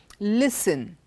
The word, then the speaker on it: listen: we have T pronounced even in words like Christmas listen hasten softened none of these words do we have T and look at the